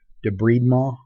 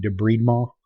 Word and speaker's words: debridement: cleaning out a wound your book insists on giving it the French pronunciation debride ma you're going to sound pretty silly if you are in wound care and go around saying debride mall unless you're actually French